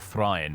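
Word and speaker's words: Thráin: This majestic and giant hall was cut into the Blue Mountains by the dwarves under the leadership of Thrain, or Thrain, really, would be the correct pronunciation, and Thorin.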